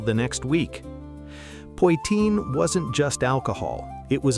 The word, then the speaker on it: Poitín: Pine, pronounced pine, named for the little copper pot pa used to make it.